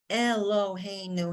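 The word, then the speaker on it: אלוהינו: on the word elohanu elohanu has four syllables but when you go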